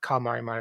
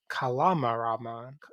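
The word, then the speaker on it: Calamaramon: official name is not Kalmarimon, it's Kalamaramon.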